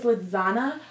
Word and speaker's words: Lizana: The keynote speaker is Lizana Hotep, and if you see his name, it's like spelled like lasagna without the I name.